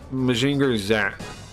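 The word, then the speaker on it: Mazinger Z: you pretty exciting wait do they say Zen or Z yeah they say Z with like a t they say Z they say mainger Z is what they say it's like a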